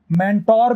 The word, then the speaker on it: mentor: ऐसे ही MENTOR को मेंटोर भी कहते हैं और मेंटर भी कहते हैं।